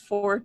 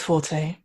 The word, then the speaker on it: forte: i don't know it's fourth or forte it is forte i read it in